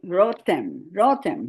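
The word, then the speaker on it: רותם: But let's say rotem. Because of that sigol here, we're going to stress the first syllable.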